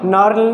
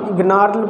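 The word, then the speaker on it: gnarl: And then नार्ल है, नार्ल में भी ये क्या है, इसको नार्ल पढ़ेंगे, नॉट गनार्ल पढ़ेंगे, गनार्ल नहीं पढ़ेंगे, इट्स नार्ल, इसमें जी लेटर साइलेंट है।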